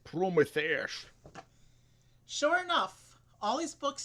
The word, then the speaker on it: Prometheus: It's pronounced Prometheus.